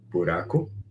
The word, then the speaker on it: buraco: Buraco.